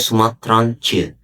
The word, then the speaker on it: Sumatraantjes: Kalau bahasa Belandanya itu istilahnya verklein woord dengan memberikan imbuhan di akhir kata t, j, e atau dibaca c. Jadi ini dibacanya Sumatranche.